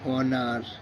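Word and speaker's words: honour: silence আছে এইচ ও এন ও ইউ আর অনার এইচ ও এন ই এস T honest H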